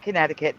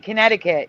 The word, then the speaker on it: Connecticut: Oh, you mean Connecticut? Yes, I know. The CUIT, like like circuit.